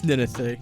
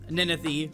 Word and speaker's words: Ninethie: So it's pronounced Ninethie. For all of you wondering, if you don't know who Ninethie is, that's how you pronounce the name.